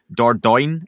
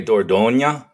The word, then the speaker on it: Dordogne: oversexed alcoholic anthropologist, encounters Dordogne, is how I've been pronouncing it in my head. Close enough. Right? It's technically Dordogne. It's a region of France where a lot of things happen with regard to early human evolution. Well, I knew it was a French region, but that's how I still pronounced it, which was wrong.